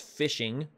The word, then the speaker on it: phishing: method of infiltration is phishing pronounced ph are not pronounced but spelled p-h-i-s-h-i-n-g but it's pronounced fishing and it's what you